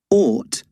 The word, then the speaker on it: ought: Ought rhymes with bought, thought, and caught.